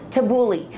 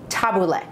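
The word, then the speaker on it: tabbouleh: it's an eggplant salad I have taboule which nowadays you hear people call it tabuli actual pronunciation taboule and it's parsley and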